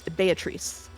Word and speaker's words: Beatrice: will say that uh the Japanese pronunciation is based on Italian pronunciation which I checked ahead of time and is Beatrice be bee bee without the toe okay and betri but